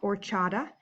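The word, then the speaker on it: horchata: looked this one up that H is silent so it's pronounced or Chadha and it's a milk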